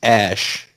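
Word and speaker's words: Æ: a space AE the a he's pronounced ash was connected eight a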